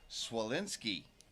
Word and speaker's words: Swalinski: So I found out the proper pronunciation is Swalinski. Swalinski, like an S, she's told me.